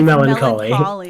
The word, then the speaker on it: melancholy: Definitely not how you pronounce that word. Melancholy? Sure. It's actually melancholy.